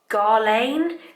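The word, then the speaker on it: Guerlain: the we don't know how to pronounce this brand shock it's like that gharlane so you said you spell it G u e r la I N and it's just like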